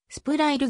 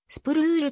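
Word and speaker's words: スプルール: 広い現在は fa 本来はスプラいるではなくスプルールと読むのが正しいこの場合のウイは前の音そのまま伸ばす発音となるアトランタブレーブス時代 2008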